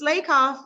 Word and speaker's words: Slakoff: Slakoff's name wrong in my head, but she sent me an email to say, just to remember, it's Slakoff, like Slay Girl Slay.